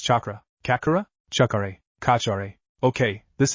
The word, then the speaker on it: chakra: What's kakura? Naruto asked confused. It's pronounced chakra.